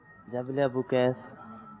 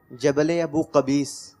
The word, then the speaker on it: جبل ابو قبیس: جبل ابو قبیس. قبیس. تھوڑی تلفظ کی مسٹیک ہو رہی ہے، صحیح تلفظ سے بتا دیں اگر تو تحفہ مل جائے گا. جبل ابو قبیس.